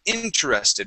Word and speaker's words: interested: The accent in the word was a little off. Okay. So instead of saying interested, okay, it would be interested with the accent at the very beginning.